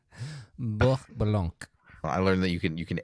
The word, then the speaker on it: Blanc: I think you Blanc. I think you just made that Hasidic more than you made it French. That's Blanc.